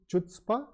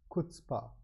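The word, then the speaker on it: chutzpah: I used to pronounce incorrectly uh the correct pronunciation is kPa it's not CH chutzpa it's kspa so kPa is behavior that is EXT extremely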